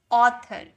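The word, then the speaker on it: author: एस ए यू सी ई यानी कि sauce ए यू टी एच ओ आर इसका भी साउंड ओ में आएगा यानी कि इसे हम बोलेंगे ऑथर।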